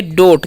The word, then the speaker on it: dote: इसे हम लोग पढ़ेंगे डोट। क्या पढ़ेंगे? डोट। डी का उच्चारण ड करना है, ओ का ओ की मात्रा, और टी का ट, लास्ट वाला ई का उच्चारण नहीं होगा, क्योंकि वाउस कॉन्सोनेंट वाउस